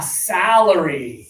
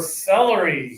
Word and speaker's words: celery: Salery. Salery. And close your teeth for celery.